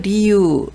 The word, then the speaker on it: 理由: 이유를 리유 이럴 때는 길게 읽었습니다.